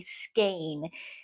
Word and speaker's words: skein: how do you say that and the proper pronunciation is actually skain s k a n e skain now a